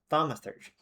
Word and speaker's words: Thaumaturgy: Pronunciation. Thaumaturgy. Okay. Thaumaturgy.